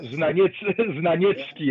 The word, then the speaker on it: Znaniecki: His name was Stanisław Kuczma, who was somehow pupil of this famous Polish-American sociologist Florian Znaniecki, or Znaniecki, as we pronounce this, because Znaniecki was in Poznań also between two world wars.